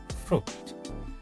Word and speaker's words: fruit: Tulisannya betul, itu fruit tulisannya ya, fruit, tapi dibacanya bukan fruit, dibacanya juga bukan fruit, tapi dibacanya adalah fruit. Yang ini yang bawah dibacanya ya. Jadi i-nya tidak dibaca, i-nya itu hilang.